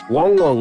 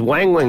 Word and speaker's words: Wang Wang: Wong Wong and Funi? Yeah. I thought it was always Wang Wang and Funi. No.